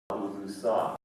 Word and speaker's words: Laulusa: thing is to learn how to say my name. Laulusa. So since we're getting a lot better at this echo voice thing, let's try this thing. Okay, so la, Lu, sa.